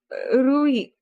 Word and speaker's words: Rui: So it's Rui and not Ru. All the time I've been pronouncing it Ru.